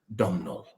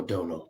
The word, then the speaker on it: Domnall: She says, the Scryer family, led by their patriarch, Domnall, or Donal, perhaps, depending on whether you're not from the sticks.